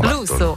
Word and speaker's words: Russo: Russo.